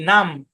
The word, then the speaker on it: numb: ও এম বি কোম, এন ইউ এম বি নাম, THUMB থাম, CLIMB claim, PLUMB plum, PLUMBER plumber, NUMBER নাম্বার।